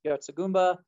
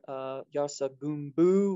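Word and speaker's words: yartsa gunbu: sinensis, the caterpillar fungus, also known as Yartsugumba or Yartsugumbu, which is another, that's the Tibetan pronunciation. This is the Nepali pronunciation.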